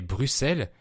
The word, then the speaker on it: Bruxelles: Sa capitale est Bruxelles, qui s'écrit avec un X, mais ce X se prononce S, comme dans 6 ou 10 par exemple.